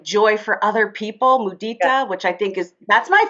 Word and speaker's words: mudita: Mudita.